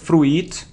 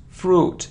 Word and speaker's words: fruit: It isn't fruit, no, it isn't fruit, it's fruit, it's one sound, fruit.